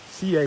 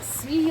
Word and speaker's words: Siyeh: making their way across CA Pass. I think that's how you pronounce it. CA Pass. It's how they pronounce it on the shuttle anyway. It's not Sea Pass.